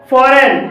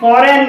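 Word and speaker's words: foreign: भी जी साइलेंट है फॉरेन फॉरेन में जी के बाद एन है और यहां पर भी जी साइलेंट है सोवन सोवन में भी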